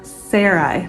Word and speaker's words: Sarai: I say it s Sarai is that right uh Sarai Sarai Sarai that's right I had to listen to the pronunciation of that name too over again cuz I have a friend that spells it the same and she pronounces it SAR and so I keep